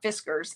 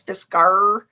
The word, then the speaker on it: Fiskars: to work for fiskars you say it like a pirate it's not fiskars it's fisgar um and when i was